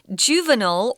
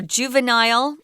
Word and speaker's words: juvenile: well in South Africa juvenile or juvenile and you can pronounce it either way guys I say juvenile but these lions these